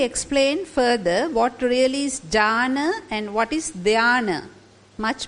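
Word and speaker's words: jhāna: in in English so we put it like j h uh long A and N Jana so we pronounce it also like Jana I don't know at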